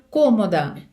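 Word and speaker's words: cómoda: Це іменник ла комода. Комод. Просто змінюється наголос в іспанській мові в порівнянні з українською.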